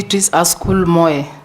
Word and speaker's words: Askul Moe: not very good out there you are betc aul Moy yes Mr Speaker have I pronounced your name correctly yeah it's called B schol mo mo yes correct welcome once again you will